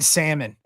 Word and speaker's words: salmon: Yeah, that that's like pronouncing the L in salmon.